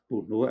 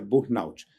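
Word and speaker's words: burnout: trazido a síndrome de burot ou de burut melhor dizendo burot era assim pronunciado mas é uma palavra inglesa né americana então é burut que é um um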